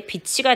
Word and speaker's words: 빛이: 이유는 의사소통에 효율성이라 그랬는데 핏과 빛은 똑같지만 발음이 얘는 디귿 받침 얘는 2라는 조사 형식 형태에서 조사가 왔을 따름인데 비치가 됩니다 참 신기하죠 만약에 예로